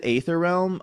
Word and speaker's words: Aether Realm: it's also like like ether is still a surviving word that we use to this day you know right?